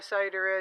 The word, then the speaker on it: cider: Not the way I pronounce it. I pronounce it like a Maine. Fire starter. Right? No R's in that at all.